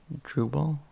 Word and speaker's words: Drupal: create shopify themes there's ghost um there's drupal drupal yeah that's how you pronounce it um so that's another way to